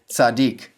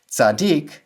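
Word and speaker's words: צדיק: The first syllable, tzad, is closed and unaccented, so it has a short vowel. The second syllable, dik, is closed and accented, so it has the long vowel, in this case, the unchangeable long vowel.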